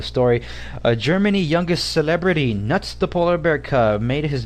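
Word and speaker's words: Knut: on on Reuters about nut and it's spelled k n u t it's it's a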